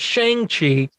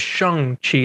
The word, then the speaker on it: Shang-Chi: It's not Shang-Chi. It is Shang-Chi. There's a scene in the movie that they explicitly, I guess it's meant as a joke, but it's also meant as this is how you say it, not this.